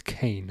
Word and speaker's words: Kane: Oh, is it Kane? Sorry. Is that how you pronounce it? Kane. I'll remember that. I was like, is it Ken? I think I'm doing it wrong, but it's Kane.